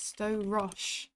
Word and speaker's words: Storosh: For those wondering how you say it, by the way, it is Storosh.